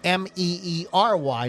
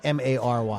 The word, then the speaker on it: Merry: It's Mary, Meery, not Mary.